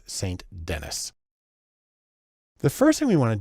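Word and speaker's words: St. Denis: should be pronounced ruth sandini she's american so it's saint dennis the first thing we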